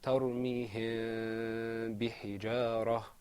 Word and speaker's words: ترميهم بحجارة: The correct way to say that is ترميهم بحجارة.